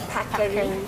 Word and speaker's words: Paccheri: I am gonna, I tried the Paccheri. Yes. Did I say it right? Paccheri, correct. Paccheri?